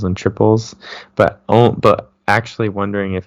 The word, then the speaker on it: Tripel: a tap or something it is just pronounced double and triple like regular but that that's one